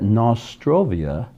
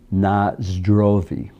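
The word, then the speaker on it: на здоровье: a search is that nostrovia is an english mispronunciation of the russian word nazdrovi meaning cheers the nazdar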